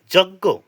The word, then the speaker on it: যজ্ঞ: যজ্ঞ কি? যজ্ঞ, যার সংস্কৃত উচ্চারণ হবে যজ্ঞ।